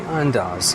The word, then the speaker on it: Andaz: we are at the rooftop pool at the unas I'm finally saying it right I'm so proud